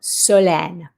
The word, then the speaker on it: Solène: This is actually has an accent grave over this second E. So that means it's pronounced eh. So Solène.